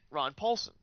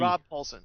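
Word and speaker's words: Rob Paulsen: that's where I met Ron Paulson. Am I saying it right? Rob with a B. Rob Paulson.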